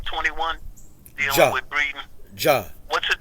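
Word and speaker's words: Jah: Ja. What's his name again? Ja. J-A-H. Yeah, Ja. Spell that.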